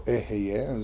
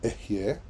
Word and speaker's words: Ehyeh: Asher Ehyeh, which is, or Ehyeh, as some people pronounce it more in the Spanish tradition, but amongst the Masorites this would have been Ehyeh. The Hey has a silent shva, which produces an influx of air.